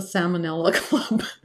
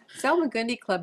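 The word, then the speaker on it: Salmagundi Club: salong gundi Club yeah I always want to call it the salmonella club salag gundi club is a very prestigious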